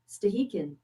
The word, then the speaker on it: Stehekin: But this other place up here in Washington, how do you pronounce it? Well, I'm glad you asked. Stehekin.